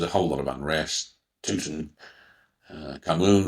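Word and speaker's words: Tutankhamun: Tuten Camun or Tutankamun as some people pronounce it died early.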